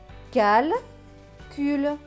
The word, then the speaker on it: calcul: C avec UL. UL, c'est ul. Le C va se prononcer que parce qu'il y a le U juste après, donc que et ul, cul. Donc ce mot va se lire calcul, calcul.